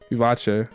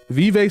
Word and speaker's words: vivace: Vivace. The correct pronunciation. I don't know how. Vive sounds wrong. It's Italian. You have to do a little fancy with it. You gotta do a little flush.